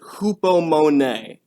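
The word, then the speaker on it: ὑπομονή: I know it looks to us like hypo, but the Greek transliteration, you pronounce it hupomone.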